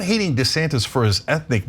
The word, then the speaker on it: DeSantis: And it seems like it's because his wife doesn't want him to be Dee-Santis, she wants him to be DeSantis.